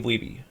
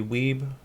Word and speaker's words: Wiebe: meet Steve Wiebe, and I could be saying his name wrong. It could be Weeb, but as far as I know, it's Steve Wiebe.